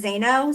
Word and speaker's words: Zaino: I want to start by saying my name is Jess Zaino. So my whole life I've been just say no, just say no, just say no.